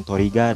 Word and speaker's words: Trigger: Mbah Subur, yaitu ya Ultraman Trigger atau ya Ultraman Toriga dalam pronunciasi bahasa Jepangnya gitu ya.